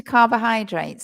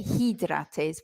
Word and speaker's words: carbohydrates: of syllables in it the middle syllable oh we don't say oh we say uh Kaaba Kaaba and then the other one is many people want to say hidrates but it's not it's high like hi Craig right so carbohydrate